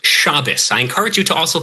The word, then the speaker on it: Shabbos: It's it's pronounced shabus.